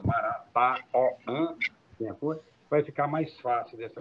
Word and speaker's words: Marataoã: porque muita gente diz, até pronuncia errado, chama Maratoã, tem gente que gagueja quando vai dizer esse nome. Então, eu acredito que ele ficar, como está agora na grafia moderna, Marataoã, vai ficar mais fácil dessa comunicação.